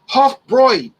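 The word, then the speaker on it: Hofbräu: talking to her but we were talking about hofbrau and then she interjected into the conversation and said it's pronounced hot broy puffbroin i said okay okay comes in at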